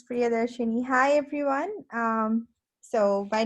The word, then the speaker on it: Priyadarshini: so let's see um priyadarshani did i pronounce that correct close yes it's priyadarshini hi everyone um so